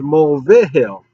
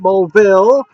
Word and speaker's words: Mill: my name pronounced wrong it is Mill not mville anyways I'm getting off